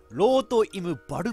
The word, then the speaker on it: Rot im Wald: いただきます公開ってローとイブ wald って読むらしいですこれドイツ語で